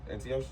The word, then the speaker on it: Antiochus: Antiochus?